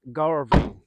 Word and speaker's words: Gulvain: Gulvain, or if you want to take the literal pronunciation, Garvain.